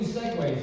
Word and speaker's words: segue: I still do segues though, because, like the segue gives a seamless, natural flow to my sets, but people get confused, they're thinking, what vehicle kind? Neither conversational kind, it's spelled differently, S-E-G-U-E.